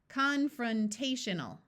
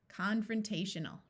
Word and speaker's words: confrontational: that sounds very close I would like to point out that this o will schah and take on a muffled short u sound n a l as a suffix sounds more like l rather than a clear Al sound confrontational confrontational here we